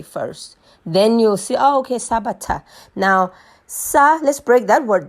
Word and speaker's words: Sabatha: In Bantu language, it's called Sabatha. Okay? Sabatha. Say it like that, Sabatha. But then the English say Sabbath, Sabbath, some call it Sabbath. They put it in, but it's Sabatha, right?